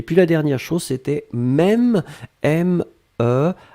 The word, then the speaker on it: même: Et puis la dernière chose, c'était même, M-E, accent circonflexe, M-E.